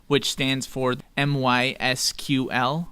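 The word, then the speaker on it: MySQL: letter which stands for my SQL or my sequel as it's pronounced my sequel is a freely available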